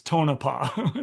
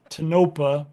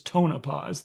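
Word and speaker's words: Tonopah: go ahead mention um I always hear people calling it tonopa private Welcome to Arizona it's tonopa just so everyone knows um if you are part of an organization United that is calling it uh toopa please know that it is tonopas the way our Native American friends would like you to pronounce that all right um I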